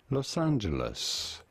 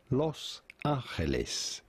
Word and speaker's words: Los Angeles: In English, or in American English, it is usually pronounced as Los Angeles. In Spanish, this is normally pronounced Los Angeles.